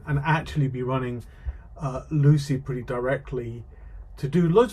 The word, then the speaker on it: Lucee: So here's the version of Lucy. Uh how do you say it? I say Lucy just because Misha likes to say Lucy. Uh it's officially Luci as you can see the pronunciation here.